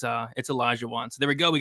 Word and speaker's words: Olajuwon: I think I called him like Oli one, but now it's Olajuwon.